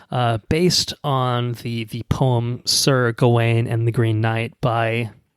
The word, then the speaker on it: Gawain: Anyway, Sir Gawain, which I think is the understood modern pronunciation, but hey man, go off.